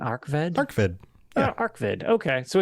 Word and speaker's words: Arkved: Is that how you pronounce Arkved? Arkved.